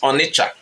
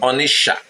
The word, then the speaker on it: Onicha: In Igbo, the name is Onicha. O-N-I-C-H-A. Not T-S-H-A. C-H-A. That's how our ancestors have always pronounced it. But when the white colonial officers and missionaries came, they wrote it the way it sounded in their ears. And so Onicha become Onisha with the T inside.